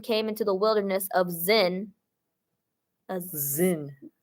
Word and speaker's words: Zin: into the Wilderness of zen zen zen sounds like zen zen yeah zen garden you know like Zen there's such thing as